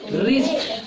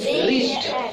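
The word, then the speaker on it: wrist: और रिस्ट में क्या साइलेंट है? डब्लू साइलेंट है। क्यों? क्योंकि ये आर के पहले आया है। अगर आर के पहले डब्लू आता है तो डब्लू साइलेंट रहता है, तो इसको बोल देंगे रिस्ट।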